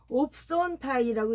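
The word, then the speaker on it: ὄψονται: 그래서 여기 보면 접어놨는데 이게 두 번 나오기 때문에 옵손타이라고 읽습니다. 이거는 뭐냐면 호라오예요.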